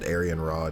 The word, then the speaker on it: Arianrhod: Arianrhod? I could have sworn it was I don't know. It feels like they pronounce it Arianne Rod in Japanese. Whatever. I'm sure they're both technically correct.